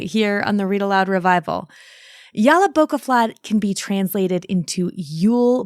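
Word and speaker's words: Jólabókaflóð: So there are a lot of very opinionated people online adamant that the word is pronounced one way or another, but Jolabokaflod seems to be the consensus, so I'm going to use that here.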